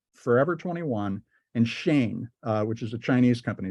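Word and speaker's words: Shein: stuff there's Zara h m Forever 21 and Shane which is a Chinese company it's spelled s-h-e-i-n uh what this has led to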